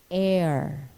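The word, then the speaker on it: heir: about its proper production not all the time is the letter h in words sounded sometimes it is soundless in the initial position like the words honest honor air and in the unaccented medial position like vehicle or shepherd the lateral law to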